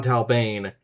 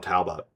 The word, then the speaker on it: Talbane: I forgot to write John Talbane down on here, and I wanted to make sure that I got the name pronunciation right because I know that like sometimes I fuck up the pronunciations. One time I called him John Talbot for whatever fucking reason. So I was like, oh